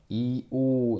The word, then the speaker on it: 이오: 그다음에 이요가 아니라 원래 원칙적으로는 어떻게 발음해야 된다고? 이오 나 선생이요요라고 해야 된다고.